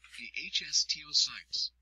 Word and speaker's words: osteocytes: Bone contains 3 types of cells: osteoblasts, pronounced osteoblasts, which make new bone and help repair damage; osteocytes, pronounced osteocytes, which are mature bone cells that help form